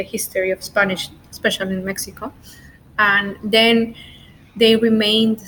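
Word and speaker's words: México: to pronounce in Spanish Mexico you say Mexico Mexico now let's go with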